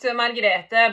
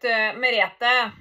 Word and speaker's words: Merethe: And these 3 people with this name Margrethe, their names were not Margrethe but Merethe. And the last couple of years I have not heard this name, and for that reason it is easy for me to pronounce this name the wrong way, because lately I've